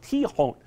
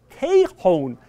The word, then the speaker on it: Tejon: You go to the 2000 West Block, Denver tends to pronounce it Tejon. You go down to Colorado Springs, it is Tejon Street.